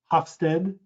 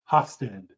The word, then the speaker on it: Hofstede: dutch researchers one researcher his last name is hofstede i'll spell that for you it's h o f as in frank s as in sam t e d e hofstede geert hofstede has a five factor model that